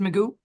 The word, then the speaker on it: Magoo: You said your last name is pronounced Magoo.